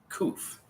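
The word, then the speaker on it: ק: The next one that looks like a P is kuf. And it sounds like a K, a hard K sound.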